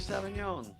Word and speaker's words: Sauvignon: Cabernet Sauvignon.